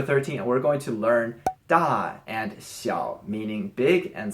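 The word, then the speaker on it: 大: starting with number 13 we're going to learn da and she'll meaning big and small so as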